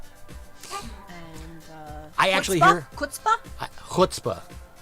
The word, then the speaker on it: chutzpah: Chutzpah? Chutzpah. Pronounce it right. It's chutzpah.